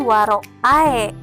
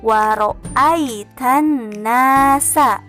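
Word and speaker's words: وَرَأَيْتَ النَّاسَ: Di situ ada kata waro'ai. Nah, bukan waro'ae, tapi teman-teman membacanya waro'ai tannasa.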